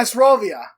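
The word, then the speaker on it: здоровье: Second word is on the second syllable. Asrovia.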